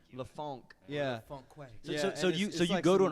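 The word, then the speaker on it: La Fonque: a wait f o n q u e lafonk so you go to an artist and you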